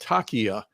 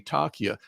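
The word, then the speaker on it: taqiyya: Islam has a uh it's it's a religious dogma and it's called takia and it's spelled t a quq i y a takia and what it means is you are allowed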